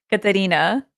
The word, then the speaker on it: Catarina: So, how do I pronounce it? Catarina.